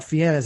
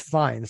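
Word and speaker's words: Fiennes: But and then the last name is not Fiennas. It's Fines.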